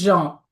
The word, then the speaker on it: Jean: It's Jean, but I think in the Jean. US you might say Jean, but No, we're In gonna French say it's Jean. We're Jean. gonna say it correctly.